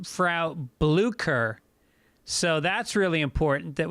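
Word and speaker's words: Frau Blücher: blucher the problem being you mispronounced the character's name phonetically it's flaw blue frow bleuker so that's really important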